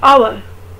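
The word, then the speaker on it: hour: जैसे first word है आवर, हम इसमें एच नहीं प्रोनाउंस करें आवर, तो फिर बोलेंगे एन आवर।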